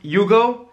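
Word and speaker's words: Jugo: There's one that didn't mention, it's called, I think it's pronounced Yugo. It's J-U-G-O, and it's this wind that, when it comes from the sea, apparently gives you a headache, which is called Yuzina.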